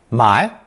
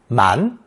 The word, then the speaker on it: 埋: This character is pronounced second tone, 买, 买. In only one expression that I can find, it's also pronounced second tone, 满, 满, thus making it a split sound character.